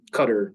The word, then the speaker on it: Qatar: to teach um in Qatar um cutter depending on how you pronounce it uh which was life-changing